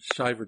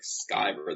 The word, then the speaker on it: Van Sciver: they're afraid to make that C hard, like Sciver. They go Sciver, and Sciver. So, hello. Yeah, well, I mean, that's, I think it's the Anglo-Saxon in me that wants it to be a soft C.